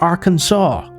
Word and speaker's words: Arkansas: And then you've got another place called Arkansas, but you pronounce it Arkansas.